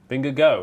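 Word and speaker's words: Vingegaard: vinger guard who I think is uming go vinger go is that not okay there that's how you pronounce it he's he's a named after the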